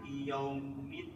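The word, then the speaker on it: يوم: Ak ah ak ah bedas kalau ko katanya suara ke orang dipukul arrah arrahmanirrahim tiib maliki maliki yaumid ya buka yanya yang benar yaumid yaumid maliki yaumid Alwa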